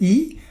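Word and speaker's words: 一: component of Chinese characters such as number one pronounced as e or man or human gen you see if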